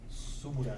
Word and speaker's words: Subaru: Subura? And I thought about How do you pronounce that? Subura? Subaru.